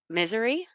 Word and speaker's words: Missouri: in Missouri I'm sorry or as people say here in Missouri but that doesn't sound right to me either and she called it misery so I have a really hard time remember that it's not misery oh my goodness some